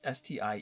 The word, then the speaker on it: Stiefvater: There's a writer, Maggie Stivater. I don't know how to pronounce her name. It's Stiefvater.